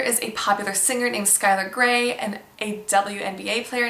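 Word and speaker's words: Schuyler: This is just a variant of the Dutch name Skylar, spelled S-C-H-U-Y-L-E-R, which means scholar, so very good meaning. There is a popular singer named Skylar Grey and a WNBA player named Skylar Diggins.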